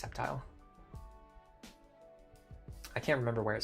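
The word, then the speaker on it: Sceptile: Uh the Skeptile thing is a meme. Yeah, I know it's pronounced Septile.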